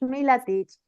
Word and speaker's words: Milatich: Hoy tenemos el enorme placer de tener a Gabriela Milatich, ¿correcto, Gabriela? Así es, Milatich.